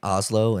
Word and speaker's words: Hazlo: Yeah, well, you can find us on social media, Drink Hazlo, and Hazlo is spelled H-A-Z-L-O. This might be a part two, but Hazlo means do it in Spanish.